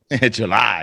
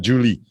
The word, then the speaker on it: July: July, yeah, not Julie.